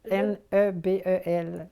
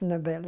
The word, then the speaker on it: Nebel: Nobel, N-E-B-E-L. Nebel, si vous voulez, à l'autrichienne, mais on prononce Nobel à la française. Et lui-même, je pense qu'il dit toujours Nobel plutôt que Nebel.